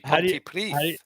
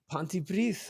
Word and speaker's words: Pontypridd: Yeah, Pontypridd. that's the one. Oh, you're close. Okay. That wasn't bad. It's actually Pontypridd. Pontypridd.